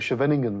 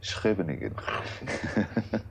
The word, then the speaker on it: Scheveningen: That's the one they used to make the suspected German spies pronounce. That's right, yes, yes. I would have been caught as a German spy, but I can't pronounce it. Well, thanks to Afrikaans, I might have managed. Scheveningen. I won't try it.